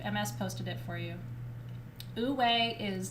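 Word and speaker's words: wu wei: high thank you ms posted it for you ooh way is w u w e i these masters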